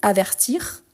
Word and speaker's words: avertir: t donc il avertit ici on dit avertir donc j'entends le r à la fin ici averti j'entend le i averti averti donc ici c'est